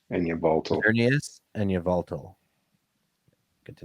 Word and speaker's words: Yveltal: Sorry, you're gonna have to help me with those pronunciations again. Xerneas and Yveltal.